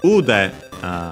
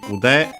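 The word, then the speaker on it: 腕: Accent on the last mora is typical for those.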